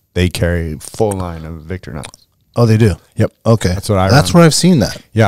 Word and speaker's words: Victorinox: There's an I there, Victorinox. I know, but I think it's just pronounced Victorinox. Yeah, Victorinox.